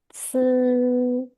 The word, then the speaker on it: 是: Yang pertama, ini bacanya adalah se, 是 se. 是 Jadi lidahnya diletakkan di belakangnya gigi.